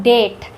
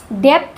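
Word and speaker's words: debt: Next है डेट। इसको पढ़ते हैं हम लोग डेट। डेप्थ नहीं पढ़ते हैं।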